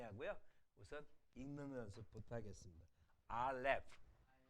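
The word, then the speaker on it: אָלֶף: 알렙. 알렙의 뒤가 F 발음이기 때문에 입술이 닿지 않습니다.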